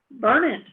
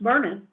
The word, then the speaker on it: Burnett: Burnett is supposed to be pronounced Burnett, not Burnett.